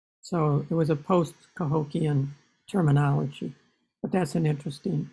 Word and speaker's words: Cahokia: late 19th century alex if we want to play with the sound of the word we take kehokya sounds kind of like that to me and we have those sounds in hebrew the first syllable k means like and hulk means the law law and yah's god so it's like god's law could be a translation okay that's that's good the actual term cahokia interestingly uh we don't